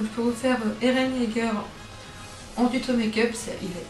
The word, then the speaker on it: Yeager: Donc oui, je prononce Yeager et pas Jagger ou...